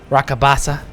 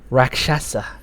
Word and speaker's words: Rakshasa: Rakabasa. Go ahead. Drop it. Of course I was saying it wrong, because I have no eyesight. Rakshasa.